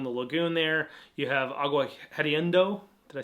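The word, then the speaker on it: Agua Hedionda: You have Agua Hediondo.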